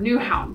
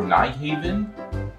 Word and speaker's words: Nyhavn: we actually don't because in danish y's are actually pronounced more like use which makes danish really difficult to learn um excuse me ma'am i'm looking for nyhaven a lot of